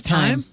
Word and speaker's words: thyme: they spell a thyme but it's it's pronounced time all right are there